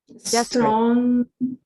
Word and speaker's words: desperate: Desperate. Yes, the stress, el acento está en la primera sílaba.